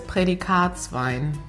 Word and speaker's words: Prädikatswein: So the first one is Prädikatswein.